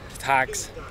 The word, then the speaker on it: Tak: Today, let's just try and see some of Thag's natural beauty.